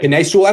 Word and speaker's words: Penei Sewell: What I would do is to sign Penei Sewell. I don't know if I'm pronounce it right. Penei Sewell, that's correct.